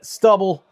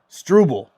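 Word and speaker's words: Struble: Montreal takes it over and stubble. Strubel. Strubel. There we go. Strubble. Just needed to hear it pronounced there on the screen.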